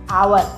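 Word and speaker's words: hour: आवर हो गया आवत एच है लेकिन इसका जो पहला अक्षर उसका उच्चारण आता है आवर तो यहां पर भी आ आता है तो आवर का मतलब वावेल साउंड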